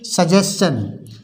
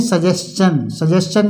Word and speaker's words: suggestion: इसी तरह से सजेशन SUGGESTION, यहाँ पर टी को हम चा पढ़ेंगे क्योंकि यहाँ पर ION आया है और टी से पहले एस है, इसे बोलेंगे सजेशन मीन्स होता है सुझाव या सलाह।